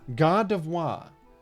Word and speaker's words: Gardevoir: Name pronunciation. Gardevoir. Gardevoir.